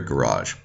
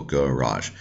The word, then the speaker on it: garage: a Native American speaker garage that is to say the stress is on the second syllable garage just like like it would be in French although it's not a